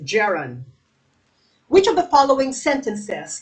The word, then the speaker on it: gerund: which of the following sentences contains a gerund okay a i don't know why some people pronounce it jiran i prefer to pronounce it gerund which of the following